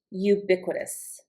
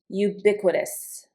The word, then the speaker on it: ubiquitous: Some synonyms for common might be ordinary, familiar, common place, ubiquitous. Ubiquitous. The I here gets the accent ubiquitous.